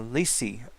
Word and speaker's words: Leecie: But by the way, if you're like Sharon and pronounce my name wrong, it's uh Leecie.